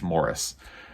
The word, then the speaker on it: Maurice: this week which is Maurice by em forer or if you're in the UK it's pronounced Morris just you know the